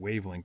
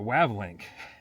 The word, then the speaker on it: Wavlink: pronouncing it right now I was calling it wavelink before and there's no e in there so the wavlink aerial hd6 this was